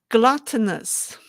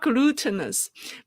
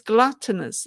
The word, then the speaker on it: gluttonous: me how to pronounce the word gluttonous, not glutinous, because glutinous is the adjective for gluten, right? Glutinous. This is gluttonous. The U here is like cup.